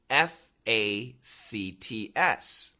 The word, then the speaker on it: facts: F-A-C-T-S. Facts. Sounds the same as F-A-X.